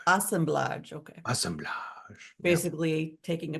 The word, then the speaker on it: assemblage: Assemblage. Assemblage, okay.